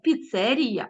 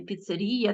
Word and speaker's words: піцерія: кулінарія а не кулінарія піцерія а не піцерія там чи ще якесь